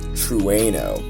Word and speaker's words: Trueno: the toyota ae86 sprinter truano and i had to search up how to pronounce that that's the actual proper way to pronounce it truano it's it's a really